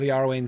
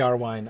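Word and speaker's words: Iarwain: i know little of yahrwein save the name but um i know it should be er wine i'm sorry that's another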